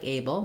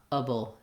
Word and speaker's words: able: sounds like a so rather than a like aable we have able doable so staying short